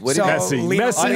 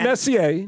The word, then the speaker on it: Messi: Messi. I know Messi's the best. Lionel right? Messi. Not Messier.